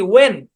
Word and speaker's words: when: শব্দের উচ্চারণ কি? ওয়েন। ঠিক আছে, এরকম যত শব্দের মধ্যে দেখবেন আপনারা যে ডাব্লিউ এইচ একসাথে আছে শব্দের শুরুতে, তাহলে দেখবেন কি এইচটা সাইলেন্ট।